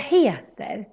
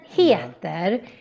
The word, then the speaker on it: heter: And then heter, here we need to kind of pull out the E when we say it. Heter. So you don't say heter. No. Heter.